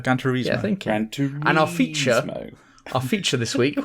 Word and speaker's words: Gran Turismo: Gran Turismo.